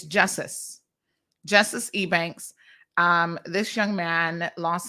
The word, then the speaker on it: Justice: So over the weekend, again, our condolences goes out to, I think his name is properly pronounced. I was saying Jesus, but that's not his name. It's Justice Ebanks.